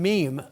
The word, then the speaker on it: meme: I mean, many of you may well know it, but that's the term meme. A meme is kind of set to rhyme with gene.